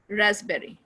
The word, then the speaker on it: raspberry: cupboard and burp cupboard not cupboard cupboard receipt raspberry right so there are some words that has some exception can happen pronounced yoga tea fashion fasten your seat belt